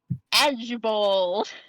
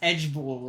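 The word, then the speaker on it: IJBOL: b o l i j b o l pronounced edgeball which stands for I just burst out laughing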